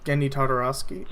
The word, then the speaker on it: Genndy Tartakovsky: it's Turkish key baby I that's how you pronounce his name II I think so it's getting Tartaros genndy tartakovsky alright you tried but yeah it's get Dendi